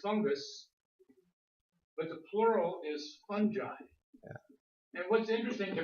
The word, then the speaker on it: fungi: I do love words goes from the hard G to the soft G from the singular to the fungus okay same thing happens